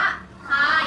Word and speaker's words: คาย: ข ไข่ ไม่ ไม่ เหมือน ค ควาย ออก เสียง ข ค ข ไข่ ออก เสียง ข ออก เสียง ต่าง กัน นะ คะ อัน นี้ อ่าน ว่า คาย อัน นี้ อ่าน ว่า ขาย ใบ เตย ใน